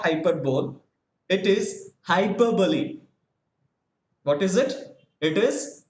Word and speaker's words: hyperbole: right almost all of us we had been pronouncing it as hyperbole but the actual pronunciation of this hyperbole is not hyperbole it is hyperbole what is it it is hyperbole hyperbole is